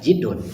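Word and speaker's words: جِدّ: Kalau dibaca jadun kakek, kalau dibaca jidun sungguh-sungguh. Maka dalam hadis ini dibacanya adalah jidun, artinya sungguh-sungguh.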